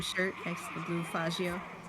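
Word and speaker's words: Faggio: next to the blue fagio exactly that is how you pronounce it by the way yeah I mean you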